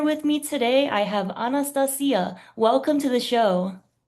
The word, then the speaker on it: Anastacya: I'm your host and here with me today I have Anastasia.